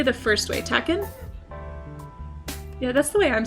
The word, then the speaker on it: takin: Takin? Yeah, that's the way I'm saying it. I don't know if that's how you're supposed to say it's takin, not taken.